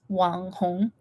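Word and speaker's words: 网红: wanon nail in Japanese actually it's Chinese nails so it's like Wang Hong in Chinese that's how you pronounce it maybe I'll just show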